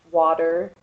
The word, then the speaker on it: water: I pronounce it with a D, water. But if you're from eastern Pennsylvania, they say water with like a U instead of an A.